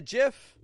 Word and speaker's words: GIF: and GIF is it a gif no it's a gif GI GIF I'm not saying gift with a t on the ending I'm saying GIF GIF so these words here